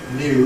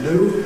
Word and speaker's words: new: After [n], ‘new’ . Americans tend to drop the [j] and say ‘new’ . So do Londoners, so you get ‘new’ and the ‘9